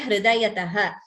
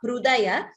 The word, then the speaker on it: हृदयतः: Dharani dhara kanye hridayataha. Dha and dha mahaprana. Hridaya, note the pronunciation of that word. Hridayata. It is not hrudaya. nor is it hridaya. It is hridayataha.